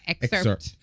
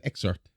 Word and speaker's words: excerpt: So the these words I'm gonna have to excerpt. I would have always said excerpt. I wouldn't have pronounced the P.